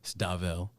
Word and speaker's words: Dauv: And then from there, I was Dauv like Suave.